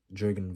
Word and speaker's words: Jürgen: as jurgena you know as a proper German uh pronunciation and and I believe